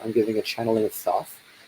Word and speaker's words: Thoth: If you're watching this live, then tomorrow I'm giving a channeling of Thoth, or Tot in the traditional Egyptian pronunciation.